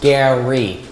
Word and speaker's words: Gary: Hi, Rary, is it? I'm Oba. No, it's pronounced Gary.